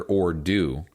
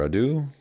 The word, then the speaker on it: ado: it's not without further or do it's three words without further Ado ad Adu how do you pronounce Adu uh do it rhymes with do without further Ado wow the more you